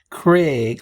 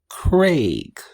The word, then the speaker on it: Craig: From what I've gathered, instead of pronouncing it Craig, like C-R-E-G, like a good number of Americans do, it's pronounced Craig, like C-R-A-Y-G.